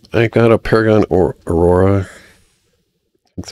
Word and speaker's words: Aurora: So I got a Paragon or Aurora.